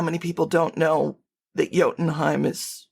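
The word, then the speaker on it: Jotunheim: Like you'd be surprised how many people don't know that yotenheim is not pronounced jotenheim, right?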